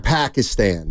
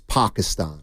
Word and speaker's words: Pakistan: it right you're welcome it's not Pakistan it's Pakistan yes and again the game